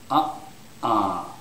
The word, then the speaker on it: uh-uh: together okay like this uh uh uh so you can actually feel them Contracting okay and M M so in this one okay the first syllable is stressed so it's uhuh uh uh okay but you